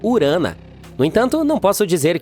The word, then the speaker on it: Urano: Bem, bem, estamos chamando Urano de forma errada todo esse tempo. Os astrônomos dizem que deveríamos pronunciá-lo como urana.